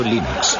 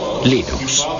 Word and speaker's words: Linux: se pronuncia limón bueno yo linux lo pronuncio líneas sin embargo si fuesen linus torvalds no hay duda de que lo pronunciaría linux 2 claro que sí unos de la costa oeste de los eeuu lo más seguros telo pronunciaría lines pero a linus torvalds le importa un bledo cómo pronuncia es linux siempre y cuando lo